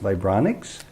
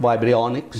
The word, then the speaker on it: Vibrionics: The work that you do, I think it's pronounced Vibronics. Correct, Vibrionics.